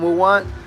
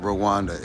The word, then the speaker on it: Rwanda: He literally corrected how I say it. He told me all of us say Rwanda. We say Rwanda wrong. It's not Rwanda. It's Rwanda. Like, they pronounce it Rwanda.